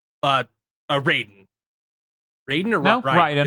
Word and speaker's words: Raiden: Raiden or no, Raiden? It's Raiden. Like fucking Mortal Kombat.